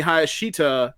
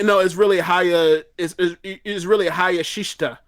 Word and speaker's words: Hayashishita: That's Konami, that's Hana Kimura, that is Momo Watanabe, that is Utami Hayashita. I can't pronounce her name. Hayashishita, I think. It's really Hayashishita.